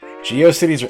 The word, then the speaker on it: GeoCities: And I prefer to pronounce it Geocities for no real reason. Like atrocities? I think that's probably what they meant. Pronunciation-wise. Did I visit the Anime Web Turnpike?